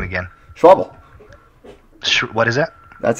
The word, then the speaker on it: Schäuble: Germany's finance minister, Wolfgang Schäuble, immediately called the decision clueless. Now, this ties right into the conversation that we're having on inflation and the Fed. Why would Germany's finance minister, Wolfgang Schäuble, call the decision clueless by Ben Bernanke and